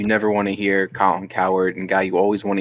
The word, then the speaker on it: Cowherd: go coward as well does anyone else realize his last name is literally like coward he chooses to pronounce it like that too you could pronounce in cowherd yeah i'm gonna go